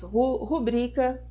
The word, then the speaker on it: rubrica: oxítona a palavra novel são paroxítonas rubrica novamente tá vendo Eber o test Olha só como a gente é pego nos vícios da língua elas são paroxítonas Portanto o acento tônico recai na penúltima sílaba ou seja o BRIC